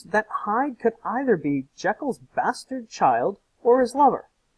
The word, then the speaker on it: Jekyll: Henry Jekyll, that's right, that's how they pronounced it, Jekyll, and one Mr.